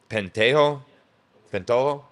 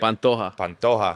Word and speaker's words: Pantoja: Yeah, and then another fight that I just want to note, obviously you got Alex Perez and Alexandre Pentojo. Did I say it right? Pantoja.